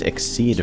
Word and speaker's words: Xyz: mystery XYZ and Yu-Gi-Oh's pronounced exceed for some reason that